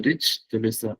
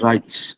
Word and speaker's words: rich: Jadi tulisannya the rich, bacanya juga the rich ya. Jangan the right atau the rice, itu beda lagi, nasi ya.